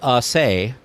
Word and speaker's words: assay: So it's probably not actually pronounced like we are pronouncing it in our minds. Well, the pronouncer there is assay. So Yeah. assay. It's the assay office. Yep, assay.